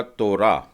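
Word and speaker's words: תורה: है, तो मैं कहूंगा तोरा। ये ट भी नहीं था और त भी नहीं था, परंतु तोरा।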